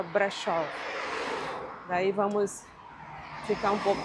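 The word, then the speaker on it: Brașov: Eh, se escreve Brazov, mas no romeno, né, no idioma deles, o S se pronuncia com som de X, aí fica brechó.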